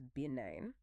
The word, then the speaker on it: benign: A non-cancerous growth is benign. It has this soft almost floating sound.